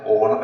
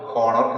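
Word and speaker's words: honour: ബഹുമാനിക്കുന്നതിനെയാണ് ഓണർ എന്ന് പറയുന്നു ഇതിന്റെ ഉച്ചാരണം ഓണർ എന്നാണ് ഹോണർ എന്നല്ല ഓണർ ദേ ഓണേഡ് ഹിം അവർ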